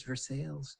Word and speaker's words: Versailles: of this city and they all say you know versailles in kentucky it's like it's for sales come on google maps even gets it wrong right but i remember